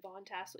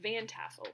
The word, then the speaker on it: Van Tassel: Is it Von Tassel? Yeah, Van Tassel.